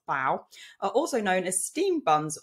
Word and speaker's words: bao: and this is what I found so baoban's pronounced bow also known as Steam buns or they are